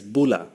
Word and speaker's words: bula: In Fiji, the word they use is "bula" instead of aloha. But, but they don't say it like a Hawaiian would say aloha. It's it's a much more emphatic greeting. It's loud.